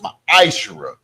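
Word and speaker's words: מעשר: means 10th in the Hebrew, and it's pronounced ma'ashara.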